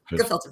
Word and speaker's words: gefilte: It's just a hard G. Gefilte fish.